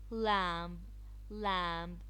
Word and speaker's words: lamb: of the hand this part of the hand lamb-lamb silent letters practice these silent letters on the book